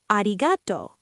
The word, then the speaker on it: ありがとう: Try arigato. ありがとう。ありがとう。 Arigato. Even, not arigato.